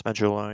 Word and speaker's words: Majula: There's an area in there, and I think I'm saying it right by calling it Majula. Mm-hmm. Yeah, it's Majula, exactly.